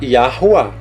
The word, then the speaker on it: Yahuwah: Na pronúncia fica assim, ó. Iá, porque o Yud vai ter som de A. Ali o W é som de U, que é um Vav, e outro A. Então a pronúncia seria mais ou menos assim, a portuguesada, ó. A pronúncia, tá? Yahuwah. Yahuwah com R fraco, ok?